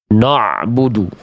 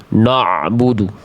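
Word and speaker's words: نَعْبُدُ: Banyak orang melafalkan ain itu karena pengin dapatin ainnya terlalu dalam jadinya kayak tebal. Na'budu, na'budu no. Nah, dari nunnya aja udah ada banyak orang sudah jadi tebal karena sudah siap-siap pengin ain jadi yang gini na'budu ada yang begitu baca na'budu simpelnya kalau pengin tipis itu dia punya sifat namanya istifal.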